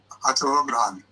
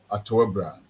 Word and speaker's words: Atowebran: Teach me how to pronounce it. yeah. And the last name, please. Atowebran. Atowebran. Atowebran. Yeah.